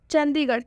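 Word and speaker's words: Chandigarh: ठीक है, चंडीगढ़, चंडीगढ़ में भी आर एच आया है इसलिए जो आर एच है इसका उच्चारण ढ से हुआ है।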